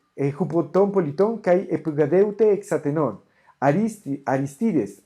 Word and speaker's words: Aristides: Aristides, el acento en español no es aquí, no es Aristides, sino Aristides.